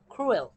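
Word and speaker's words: cruel: ক্রুয়েল ক্রুয়েল এখানে কিন্তু ক্রুয়েল পড়বেন না আপনারা সি এর উচ্চারণ এখানে খ এর মত ক্রুয়েল নিষ্ঠুর ইংরেজিতে ক নামক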